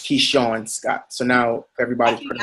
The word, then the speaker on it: Keishorne: So it's Keishorne Scott. So now I everybody's think I pronouncing did that.